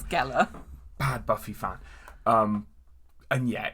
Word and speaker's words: Gellar: I've seen the remake with Sarah Michelle Gellar, or Jella, however you're supposed to say her name. It's Gellar.